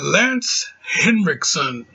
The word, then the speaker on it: Lance Henriksen: we had uh yeah once again we had lance henriksen yeah i could say it right this time